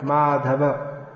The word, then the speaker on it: Madhava: The name Madhava in most modern English languages is pronounced Madhav. With the exception, the one exception I know is Kannada language, which is not spoken in Canada.